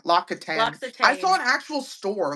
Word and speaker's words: L'Occitane: But yeah, L'Occitane, L'Occitane, L'Occitane.